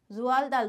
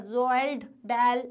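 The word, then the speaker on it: Roald Dahl: इसका प्रोनाउंसिएशन क्या है? रोआल्ड दाल, रोआल्ड दाल, रोआल्ड दाल ऐसा नहीं है, रोआल्ड दाल, ठीक है।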